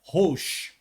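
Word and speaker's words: ראש: A palavra chefe em hebraico pronuncia Rosh.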